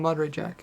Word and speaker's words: Monterey Jack: Uh, how do you pronounce that? More moder Jack with peppers. Okay, so the cheese is called Monterey Jack.